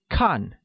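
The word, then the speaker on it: 看: to watch translates as con which is pronounced with the falling tone thus I don't like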